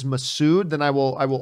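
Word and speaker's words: Massoud: it but i if i'm corrected again by a few people that it is masood then i will i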